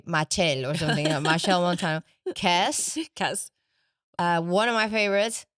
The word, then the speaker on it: Machel Montano: Machel Montano. Okay, because in my head I would say Machel or something. Machel Montano.